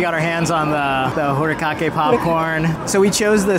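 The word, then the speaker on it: furikake: So, with the Star Wars follow-up, we went to Katsaka's to get what we thought was And I found out it's pronounced hurikake. Hurikake.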